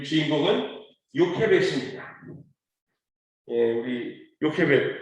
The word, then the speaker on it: 요케벳: 요게벳이라고 우리 개역개정에는 나와 있습니다. 그런데 이제 히브리 원어로 보면 요케벳이라고 발음하는 게 더 조금 적합할 것 같아서 저는 여러분들에게 요케벳이라는 의미로 발음으로 전해드립니다.